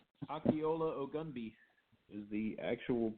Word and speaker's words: Akinola Ogunbiyi: The silent N in the Akinola looks like it should be Akinola, but it's Akinola Ogunbiyi.